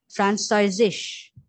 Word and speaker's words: Französisch: ফ্রান্সয়েজিস এরকম উচ্চারণ হবে।